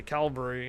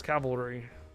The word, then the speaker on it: cavalry: This one's a big This one's a big one, though, because everybody likes to say calvary and then they realize it's cavalry.